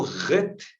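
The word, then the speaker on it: Het: Já o Ret, é bem mais duro, É como se a garganta raspasse, Como o J soa no espanhol quando nós falamos, por exemplo, a palavra irro, Se escreve ijo, Mas lemos irro. É a mesma sonoridade.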